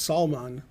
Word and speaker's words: Salman: It's not spelled like that. I'm not a fish. It's salmon. Salmon. He says, oh, salmon. Oh, it's accents on the second part.